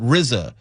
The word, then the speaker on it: RZA: If you are a fan of Wuang you may know what Rizza and you know Jiza which is RZA and GZA.